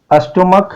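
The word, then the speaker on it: stomach: स्टोमक है तो स्टोमक में केवल S लगाए क्योंकि CH का उच्चारण क है।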